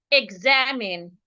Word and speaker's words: examine: So we're stressing the second syllable. So because we're stressing the second syllable, it means that we're not stressing the e. Because we're not stressing the e, it means that the e should sound e.